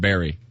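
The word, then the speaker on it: Berry: So Barry, not Barry. So he spells it how, Steve? B E R R Y. So that is pronounced Barry.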